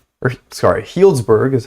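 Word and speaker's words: Healdsburg: i'm going to keep doing it for sure helzberg or sorry healsburg is how it's pronounced apparently leightonville eureka um reading i wish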